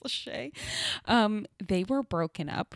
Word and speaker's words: Lachey: know Jessica Simpson and Nick Lachey or as I called today Nick Lachey um because I didn't know it's pronounced Lachey um they were broken